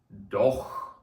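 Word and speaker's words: doch: мові це одне слово дох дох знову ж таки це ха Але читається банально як ха І це буде так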